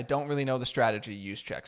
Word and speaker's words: Juszczyk: Fullback Kyle Juszczyk, oh wow, I just butchered his name. Juszczyk, there you go, said he assumed the 49ers